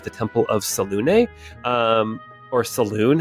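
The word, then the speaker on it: Selûne: Temple of Selune, or Saloon. How do you say? I didn't look it up. Isn't it Selune? How does Baldur's Gate 3 say it? Selune. Yeah, there we go.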